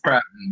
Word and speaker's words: Pruton: Is that pronounced right? It's Pruton, but that's pretty close.